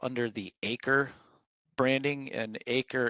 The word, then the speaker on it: AiCRE: the acre branding and acre is spelled a-i-c-r-e um and there's a